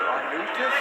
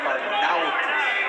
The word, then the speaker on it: Arnaoutis: And that is the pronunciation, by the way. We did check with Mighty Mike today because announcers seem to have a big problem with his name. We hear Arnaoutis, Arnaoutis. It's Arnaoutis. Yeah, his trainers seem to